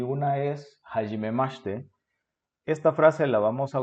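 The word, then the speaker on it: はじめまして: 41歳です。本ジュラス人です。建築家です。そして、日本語の先生です。どうぞよろしくお願いします。Bien, aquí puntos a destacar en la pronunciación son los sonidos como shi, por ejemplo, en hajimemashite. Notemos que suena la i muda. Básicamente hacemos un ch, como cuando pedimos silencio en español. ¿Ok? Y ese sonido SH no existe en español. ¿Ok? Por lo tanto, no estamos acostumbrados a ello y tendemos a pronunciarlo fuerte, como si fuera CH, como chi, por ejemplo, pero ese debe sonar suave.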